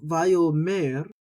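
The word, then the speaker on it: וַיֹּאמֶר: over the aleph, and you have to decide whether you're going to pronounce the aleph or not. Most people in this case are simply going to pronounce the vowel that comes along with the aleph, which here is the holem.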